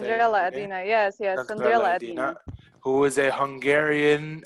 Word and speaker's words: Sandrella Edina: Edina, yes, Sandrella Sandrella Edina, Edina.